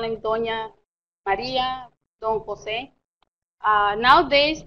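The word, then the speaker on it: José: You're going to notice, too, in the 1700s, for Jose, they used to use the JPH a lot. They don't pronounce the word Joseph, just Jose.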